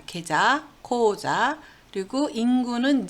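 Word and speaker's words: 口座: 예, 은행 계좌를 나타내는 말은 고자라 그럽니다. 계좌, 고자.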